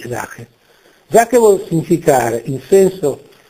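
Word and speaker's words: Sache: lingua tedesca si dice si pronuncia zake è scritto s a c h e zake zake vuol significare in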